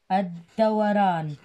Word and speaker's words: الدوران: سادسا الدوران، الد شمسية أيضا تكتب ولا تلفظ، الد و ر إن الدوران، وهي الحركة بشكل دائري، الحركة بشكل دائري، الحركة بشكل دائري، هكذا الدوران، الدوران.